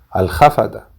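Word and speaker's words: الحفدة: abuelo de los alhafata, que en español se pronuncia al jafata, y son los nietos, los hijos de la hija.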